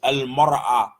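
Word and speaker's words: المرأة: Alif lam on imra'atun, the pronunciation changed. Al-mar'a.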